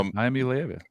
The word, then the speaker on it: Iamaleava: Well, we are on the subject of Tennessee and its super arm quarterback, Joe Milton and Nico Iamaleava. Did I say it right? Yeah, Iamaleava.